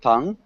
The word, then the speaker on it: Tong: pronouncing your name correctly is it Tong not the ooh sound T yes exactly bra thanks